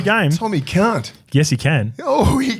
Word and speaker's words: Cant: Thomas Cant is the new face on the bench because he can. Where do you spell that? C-A-N-T. Thomas Cant. Can't.